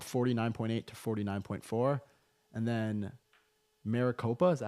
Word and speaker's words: Maricopa: Trump with Trump 49.8 to 49.4 and then Maricopa is that how you pronounce it yep yep uh right now Harris